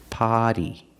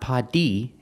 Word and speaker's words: potty: you say water bottle potty potty not PADI it's not a clear D sound it's a fast e party a potty is